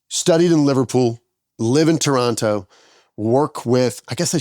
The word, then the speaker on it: Toronto: in Liverpool live in Toronto work with I guess I should say Toronto I say that second te a little bit too hard don't I Toronto no want